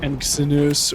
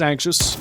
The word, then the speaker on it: Anxious: be, I do apologize, the Twitch's name is not Anxinus or whatever I was thinking earlier. It is Anxious. I'm going to pronounce it correctly now.